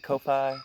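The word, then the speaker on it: Ko-fi: to say all this stuff okay so it's kofi topi am i saying it right kofi yes okay my patrons on kofi my bad i'm not trying to mispronounce this on purpose this is the first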